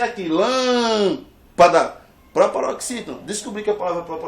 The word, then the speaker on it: lâmpada: A palavra lâmpada, separa a palavra lâmpada. Essa palavra aqui ela é proparoxítona. Por quê? Porque a sílaba forte é aqui. Lâmpada.